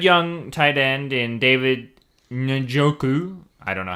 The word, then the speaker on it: Njoku: They had that good young tight end in David Njoku.